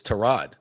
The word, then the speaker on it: Tyrod: And we also learned from Baker Mayfield it's Tyrod, not Yeah.